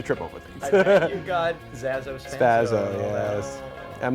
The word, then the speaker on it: Zazo: say it wrong it's zazo zazo not zaso zeso and there z a o not three Z's three s's it's zazo zazo and not spazo like they used to call me in school cuz